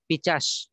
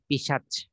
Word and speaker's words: পিশাচ: তো পিশাস হবেটা কি পিশাচ ঠিক আছে পিশাচ অনেকে মূল শব্দ হচ্ছে অনেকে ডাকে হচ্ছে রিস্কা এটা অনেকের সমস্যা হয় উচ্চারণ করতে এজন্য খুব খেয়াল রাখা বিষয় যে পিশাস না হয়ে হবে পিশাচ ঠিক আছে পিশাচ এরপরে